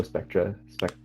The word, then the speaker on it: Spectra: I actually came to know Spectra.